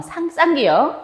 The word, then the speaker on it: 쌍기역: 그 다음에 끼역 아닙니다. 쌍기역.